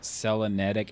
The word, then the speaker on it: Selenitic: I've heard people call it Selenetic Age. I personally always called it Selenitic if I had to,